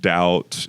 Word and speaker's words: doubt: And she's like when she wins on words like doubt and like compliment or silent letters, right? Doubt with silent B, right?